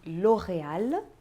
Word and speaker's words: L'Oréal: Accor aquela famosa regionais quando a palavra se termina com l e isso também pode acontecer é o caso de L'Oréal e chanel de vez em quando